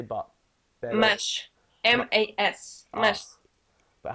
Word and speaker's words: mas: ah, Mas. but how do I pronounce that?